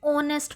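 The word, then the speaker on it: honest: लेकिन अगर आप देखें तो इसको प्रोनाउंस करते वक्त हम ऑनेस्ट पढ़ रहे हैं। यानी एच यहां पर साइलेंट है।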